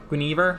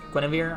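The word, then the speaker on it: Guinevere: you wanna i i i've always pronounced it grenivar but it's gwynevere i guess either way uh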